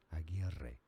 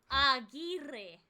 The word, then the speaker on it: Aguirre: In Spanish, it is said as Aguirre. Aguirre.